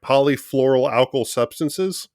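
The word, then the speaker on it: polyfluoroalkyl substances: Polyfluoral alkyl substances.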